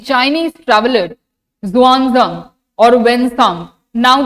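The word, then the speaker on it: Xuanzang: तो चल question number two the Chinese traveller जुआजंग और वनसांग नाउ द प्रोनाउंसिएशन इज़ जुआजंग तो ये जो स्पेलिंग लिखा है अब उससे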